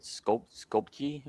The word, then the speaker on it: Skopje: I can never pronounce it. Skopje or something like that? Yeah, that's right.